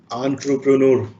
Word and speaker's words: entrepreneur: is a word which has come from a french word and the proper pronunciation is entrepreneur you know when you